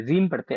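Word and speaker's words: ह्रीं: हरीम नहीं पढ़ते, रीम पढ़ते, एच साइलेंट रहेगा।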